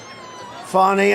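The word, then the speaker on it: Fani: cases like funny fny it's spelled Fanny it spelled Fanny like your ass right Fanny but when she became da she decided to add a little French a little fancy fny fonny and you know fonny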